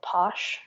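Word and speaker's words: pox: is from Chiapas and it's called Posh but it's spelled PX and you can drink if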